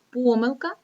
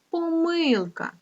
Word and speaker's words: помилка: читання завдання запитання але в слові помилка діти може ставитися два наголоси теж це слово має два наголоси помилка і помилка так записуємо з вами